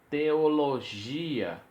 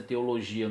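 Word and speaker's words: θεολογία: Apologia, teologia. Nós temos a pronúncia teologia no português, mas no grego seria teologia. Lembra que não se tem a pronúncia gi, nem gé, gui e gué.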